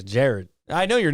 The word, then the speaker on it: Jared: know for sure but they always say my name Jared yeah yeah that's sound dude not jar is Jared I know your name